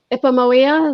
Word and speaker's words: Ipomoea: Ipomoea, is that's the correct pronunciation? Yes.